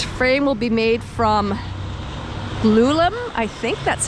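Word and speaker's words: glulam: mass timber its frame will be made from lulum i think that's how that's pronounced it's g-l-u-l-a-m it's glued laminate timber uh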